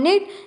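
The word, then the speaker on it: knit: फिर निट, निट का मतलब होता है बुनना, second form निट and third form is निट, यहाँ पर कि साइलेंट है, निट निट निट।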